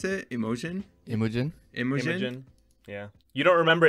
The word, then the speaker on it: Imogen: other movies with him in it but it's emojian poots is that how you pronounce it emotion imogen imagining yeah you don't remember imogen heap no